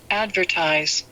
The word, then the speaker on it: advertise: the student 对， is shadowing and follow the way the American 对， pronounce 没 the 有错。 word Advertise.